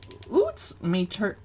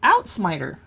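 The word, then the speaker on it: uitsmijter: of garlic shrimp okay Lutz meter Oh pronounced out smiter okay out smiter it's somewhere between a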